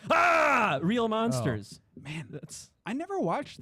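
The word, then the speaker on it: Aaah!!! Real Monsters: come on come on it's pronounced ah real Monsters man that's I never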